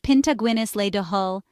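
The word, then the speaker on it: pionta Guinness le do thoil: In Irish, it's pianta Guinness le do toile, pronounced pinta Guinness le do hull.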